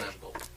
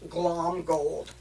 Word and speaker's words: Glomgold: It's Flintheart Glomgold. Glom gold. No, you have to put the Mick in there. It's just not written. It's Flintheart pronounced. Glomgold. It's pronounced, but not written.